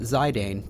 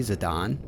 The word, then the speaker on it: Zidane: all the same um when I was a kid I pronounced that zidane because uh why not that's what I would think but I guess it's technically zadon um that's probably I'm probably